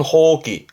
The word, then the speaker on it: 放棄: 발음은 호기.